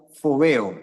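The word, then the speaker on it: φόβος: una palabra griega que se pronuncia fobo con f es palabra teme pal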